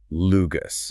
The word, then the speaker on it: LUGAS: And it's pronounced just like one word, Lugus.